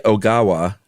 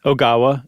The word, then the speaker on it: Ogawa: out, a physicist by the name of Seiji Ogawa, or Ogawa. How would you pronounce that? Ogawa, and it's Ogawa.